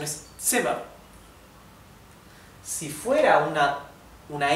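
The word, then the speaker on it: Zimmer: set para la Z la Z en en alemán siempre se pronuncia T T ts por ejemplo la palabra sema sema sema significa habitación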